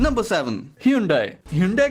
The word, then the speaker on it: Hyundai: बहुत से लोग Hyundai बोलते हैं। पर कोरिया में उसे Hyundai बोला जाता है।